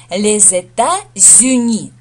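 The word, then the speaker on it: les États-Unis: США ле Зета зни Ох как произносится сложно Да во-первых во множественном числе Соединённые Штаты Америки получается Здесь у нас артикль ле множественное число это зю это штаты объединённые и получается так что здесь связочный здесь сливается с получается з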